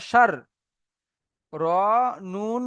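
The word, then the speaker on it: شَرِّ: বুঝতে পারছি আমরা কেন প্রথমে রটাকে শিনের সাথে যার জুড়ছে। তাহলে শিন র, এই শিন র জাবার সার হয়ে যাচ্ছে। তারপর রটা আলাদাভাবে উচ্চারণ করতে গিয়ে দেখছি তারপরে নুনের উপর আবার তাসদিদ চলে এসছে। মানে এই নুনটাকেও ওই র সাথে জুড়িয়ে পড়তে হবে। তাহলে র নুন জের রিন, সার রিন।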